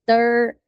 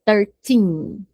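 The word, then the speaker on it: thirteen: E o 13, lembra do 13 ao 19, eu puxo tim, a gente vai dizer 13. A pronúncia é importante. Senão você fala 30 ou 30, do 30. Então, eu puxo, ó, 13.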